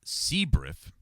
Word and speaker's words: CBIRF: biological incident response force or CBIRF pronounced CBRIF.